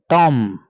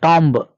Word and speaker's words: tomb: Likewise, Tom. This is not tomb. Here, letter B is silent.